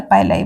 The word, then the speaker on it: pili: Next जो इसमें important structure present होता है उसको हम पिली या पाइलाई बोलते हैं, ठीक है। Both pronunciation are correct.